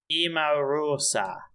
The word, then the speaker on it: Emarosa: music word by word oh it's a pronunciation it's emorosa no he isn't you